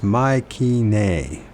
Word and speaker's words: Mycenae: Let me see how you pronounce Mycenae.